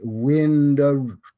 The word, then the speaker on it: Vindobona: Vindobona, pronunciation Windobona, from Gaulish.